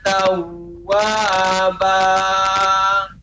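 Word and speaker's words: تَوَّابًا: Innahu kana tawwaba. Iya. Untuk tawwaba jangan sampai kita berlebih. Tawwaba berarti lebih dari 2 harokat ya. Tawwaba tetap 2 harokat. Ya, maka pengucapannya innahu kana tawwaba.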